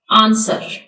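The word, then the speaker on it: answer: भी T silent है आंसर इसमें डब्लू साइलेंट है रंग इसमें डब्लू साइलेंट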